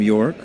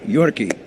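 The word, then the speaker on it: Yorke: He's got an E at the end of the name. York. Going to confirm with Zack that it's not pronounced Yorkie.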